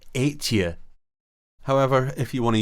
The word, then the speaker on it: Ètive: McIntyre's mention of Buachaille Ètive Mòr gives us a valuable hint as to how Ètive is, or at least was, actually pronounced in Scottish Gaelic, Ètive.